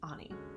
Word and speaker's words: Ani: friend here on YouTube, Ani Prado. You may have heard me refer to her as Ann Prado in videos past, but in Brazil, where she's originally from, her name is actually pronounced Ani.